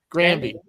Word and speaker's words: Grandy: How does this pronounce his name? Grandy. NDY, who was Gopher on the logo.